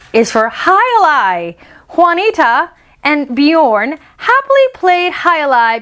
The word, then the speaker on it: Juanita: people pronounce juanita instead of the j they'll say uh juanita like a w it's juanita in spanish it's not juwanida eating fajitas in juarez